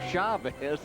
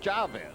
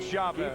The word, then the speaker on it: Chavez: hitting has improved dramatically since he became Chavez instead of Chavez keep it Chavez keep it Chavez you've